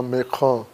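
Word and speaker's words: Macron: کو اردوغان کہتے ہیں، جس طرح فرانسیسی صدر کو میکغوں یہاں کہتے ہیں، اور ویسے وہ اپنے ہاں میکخاں کہلایا جاتا ہے۔ یہ تلفظ کا ایک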